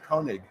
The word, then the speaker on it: Koenig: Koenig. Koenig. Koenig is an alternative pronunciation.